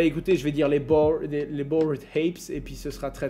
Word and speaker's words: Bored Apes: Je pense que c'est Bored Hap. Est-ce que ce serait Bored Happy? Happy? Comment ça se prononce? Ouais, j'adore quand vous faites à la française, vous écrivez Happy. Les Bored Apes, c'est ça, on est bon?